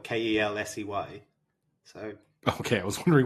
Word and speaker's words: Kelce: We've been mispronouncing his last name the entire time. Is it Kelsey? Is it Contendant? From what I understand, it's just Kels, is how it's supposed to be said.